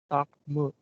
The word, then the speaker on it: Dartmouth: This is Dartmouth. Dark mood. Okay. Yeah, it is not mouth at the second syllable.